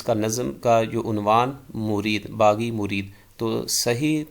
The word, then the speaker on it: مُرِید: پر بیعت کرنے والا، اور یہ صحیح تلفظ اس کا مرید ہے، میم پہ پیش اور را کے نیچے زیر۔ علامہ اقبال رحمہ اللہ